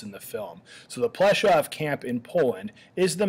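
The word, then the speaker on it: Płaszów: how I'm pronouncing that the W in German gets a v sound so I say plov and that's how you'll hear it pronounced in the film so the plov camp in Poland is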